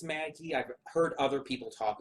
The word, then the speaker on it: Magi: I'm pronouncing that right I believe it's pronounced Maggie I've heard other people